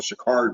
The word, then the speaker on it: Sha'Carri: our interviewer post interview you mispronounced her name and she would correct them say my name is known Shakari Richardson yeah yeah and